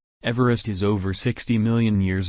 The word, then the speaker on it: Everest: rest not everesh dash as per the pronunciation of the british surveyor's surname everest was originally named